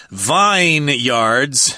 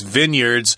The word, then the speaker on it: vineyards: And, of course, you've got vineyards. No, you don't pronounce it that way, of course. It's vineyards, places where they grow grapes and make wine.